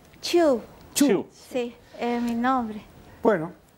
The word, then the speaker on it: Chu: ¿Cómo se pronuncia? Chu.